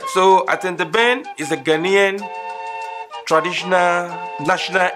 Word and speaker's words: Atenteben: It's called Atenteben. Atenteben. You can spell it A-T-E-N-T-E-B-E-N. And again, A-T-E-N-T-E-B-E-N. Atenteben. Or if you want me to break it down, Atenteben. Aten can be a one word, which is A-T-E-N.